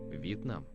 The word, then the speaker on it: Вьетнам: Вьетнам. Vietnam. Vietnam. Exactly the same as in English and exactly the same as in Vietnamese.